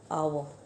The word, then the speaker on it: hour: जैसे कि here they have given an example of आवर, HOUR, आवर. Now here H is silent.